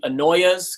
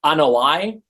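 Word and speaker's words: Anoa'i: Yes, so some people call them the Anoyas because that's what they do. They annoy you. But it's actually pronounced Anoi, as in Anoi am annoyed by them.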